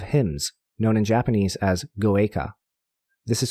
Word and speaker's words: goeika: Most Mahayana traditions in East Asia will also have hymns, known in Japanese as goeika. This is spelled G-O-E-I-K-A, and you can look this up online as well.